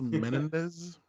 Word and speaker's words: Menendez: It's pronounced Menendez.